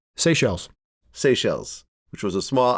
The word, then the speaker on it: Seychelles: Am I pronouncing it right? Seychelles.